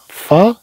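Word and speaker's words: famille: اذا نقول لا فامي، لا نقول لا فاميل، بل نقول لا فامي. عندنا هاد اي تنوركو عليها، ان هاد اي هاد اي تيكون عليها الشده كما نقول، وبحال كاننا سننطق الياء هنا لا فامي، لا فامي هنا لو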